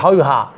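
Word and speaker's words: however: হাউএভার, ইংরেজরা অবশ্য বললো হাউএভা, ওরা উচ্চারণ করে হাউএভা, আর তা উচ্চারণ করে, যেমন রিভারকে বলে রিভা, ইভারকে বলে ইভা, এরকম হাউএভা।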